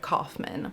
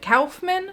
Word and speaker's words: Kaufman: Michael Herz and Lloyd Kaufman. By the way, I know in the past I have pronounced it Calfman. I understand now he pronounces it Kaufman. My instinct to say Calfman is because I study German.